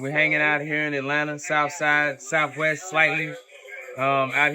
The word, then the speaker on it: Atlanta: People say Atlanta and Kentucky the same thing, but it's Atlanta.